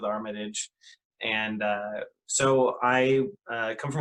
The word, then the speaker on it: Armitage: again my name is armitage or mataj however you want to pronounce it my family generally goes with armitage and so i come